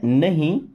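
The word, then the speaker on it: know: देखिए I means मैं, don't, don't means होता है नहीं, नो। दोस्तों इस नो वर्ड में के और डब्ल्यू दो के दोनों लेटर साइलेंट होते हैं, है ना, उच्चारण करते केवल नो का।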